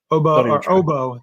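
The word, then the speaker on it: Ogbo: But now you have a plethora of edge rushers, and you did have inactive Azeez Ojulari and Obo, the G is silent, I think.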